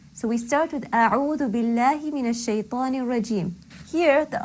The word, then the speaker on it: بالله: Now, naturally, that means that when Allah is preceded by a kasra, when the lam in Allah is preceded by kasra, the lam will be light.